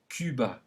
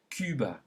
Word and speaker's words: Cuba: This is a tricky, very French sound, and it is pronounced U, as in le Cuba. Say it. Le Cuba. One more time. Le Cuba.